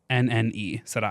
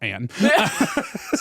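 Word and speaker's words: Séranne: Are you asking how to spell it? S-E with an accent, R-A-N-N-E. Saran.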